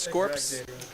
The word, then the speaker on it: Scorps: 88 says it's pronounced scorps i i always just assumed it was referring to the form of business you can open which is an s corp but it's actually scorps short for scorpions fair enough you got